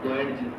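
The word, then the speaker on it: Goetz: हरमन, ये साइलेंट है यहाँ पर, गोयडजी बोला क्या नाम है?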